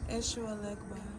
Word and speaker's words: Eshu Elegba: Eshu Elegba.